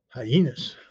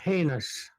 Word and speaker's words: heinous: Hyenas. Yeah. The pronunciation of the word is heinous.